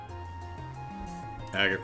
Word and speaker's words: Agate: on telling the story agate rhymes with baguette yeah with the with